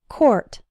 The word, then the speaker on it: court: with the word court the oh you are in court is pronounced or same as in the words for sport and poor court but in the words